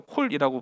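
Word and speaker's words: קול: 할 때 콜이라고 이야기하잖아요 근데 이제 히브리어도 콜이라고 발음을 하거든요 근데이 콜이라고 하는 것은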